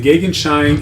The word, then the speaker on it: Gegenschein: Uh the gagen shine is a faint light that is opposite the sun. Uh it's uh again pronounced gagen shine.